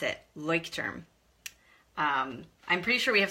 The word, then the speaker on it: Leuchtturm: I've been told that's how we pronounce it, Leuchtturm.